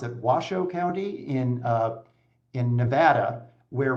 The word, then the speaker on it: Washoe: Using centers of population instead and look at I think they pronounce it Washoe County in in Nevada, where Reno is located very long north to South.